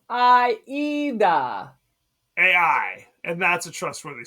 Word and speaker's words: Aida: It's Aida, like the opera. She's Italian. It's an Italian opera.